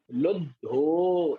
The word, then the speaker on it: लुद्धो: तो दा को पहले पढ़ें लोध, फिर धो लुद्धो। एक साथ पढ़ेंगे तो उच्चारण कैसे निकलेगा? लुद्धो।